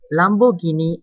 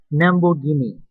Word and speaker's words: Lamborghini: The same situation occurs when one of the respondents of Chinese native speaker pronounced the word Lamborghini as Namborghini.